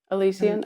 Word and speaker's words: Elysian: And then I had the Elysian one, is that how you pronounce it? Uh-huh. Elysian.